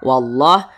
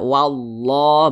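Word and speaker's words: والله: terlebih dahulu begitu kemudian wallah di sini ada lafaz Allah sebelumnya ada huruf yang memiliki tanda baca fathah maka lafaz Allahnya dibaca tebalah Dibaca tabkhim wallah Jangan dibaca walla jangan tapi dibaca wallah begitu kemudian di sini ada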